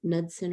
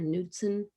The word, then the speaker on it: Knudsen: There's a K-N at the start, but usually K is silent when it's at the start of a word. Like knee is spelled K-N-E-E, and the K is silent. So I think it's Knudsen or Knudsen, don't know.